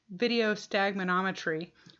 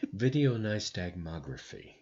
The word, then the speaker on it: video nystagmography: told or consulted with as video stagminometry which is not right and so Jim's going to talk about that in detail right now oh my God can I remember how to pronounce it video nystagmography is what vng stands for which is why we